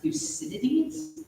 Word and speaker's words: Thucydides: No, I believe it's pronounced Thucydides.